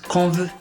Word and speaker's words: Kanveu: Mon nom se prononce Kanveu, ça veut dire la parole.